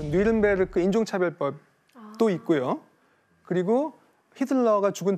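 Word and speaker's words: Nürnberg: 니른베르크 발음 맞나요?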